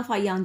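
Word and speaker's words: Fa-Hien: इसको बोला फाहियान जाता है, ब्रैकेट में जो गिवन है ना वो उसकी प्रोनाउंसिएशन है.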